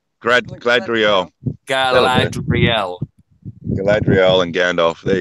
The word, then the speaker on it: Galadriel: How do you pronounce that? I've forgotten because I haven't watched the movies for so long. Galadriel. Gladriel.